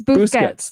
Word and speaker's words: Busquets: It's Busquets.